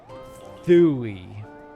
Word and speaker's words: thewy: Thui. Thui. Okay. Sounds like the word thigh combined with ooey.